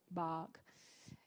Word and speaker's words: bog: Então, só seria assim, frog, bog, Então, é entre o O e o A, né? Não é o A e não é o ou O, é A. Seria uma coisa assim. Então, frog, bog. Essas seriam as pronúncias ideais. E pra gente acho que é um desafio, porque não tem esse som em português.